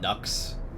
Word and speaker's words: Nux: Some people call me Nuck, but it's pronounced like Nux.